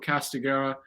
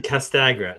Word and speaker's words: Castagra: is the CEO of castaguera roofing products and I believe I pronounced all of it correctly and you got my name but the castagra castagra castagra okay got it perfect